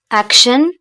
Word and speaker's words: action: Action, parce que si on a T, I, O, N, se prononce shin, shin, shin, shin, action.